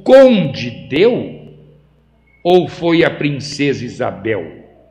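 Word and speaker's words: Conde d'Eu: Se fala Conde D, mas se escreve Conde Deu.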